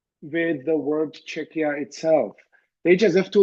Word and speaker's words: Czechia: eventually someone told her it's not chicha it's CIA and I have argued well English speakers must learn it the same they are learning to pronounce CH uh in other words you know in chemistry and chaos and and school so U if they